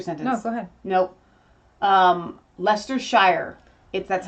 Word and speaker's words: Leicestershire: Leicestershire.